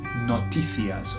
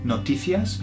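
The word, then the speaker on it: noticias: news in Spanish is notias or notias okay notias or notias depend on how you want to pronounce it and so it sounds like notices doesn't it notias so the news brings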